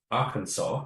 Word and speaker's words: Arkansas: to go work in Arkansas, which I only learned recently. is not our Kansas, it's Arkansas. It's the pronunciation.